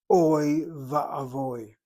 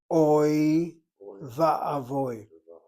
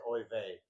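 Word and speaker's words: אוי ואבוי: A lot of people say, rather than oy, va, oy, voy, they say like the Ashkenazi say oy vey.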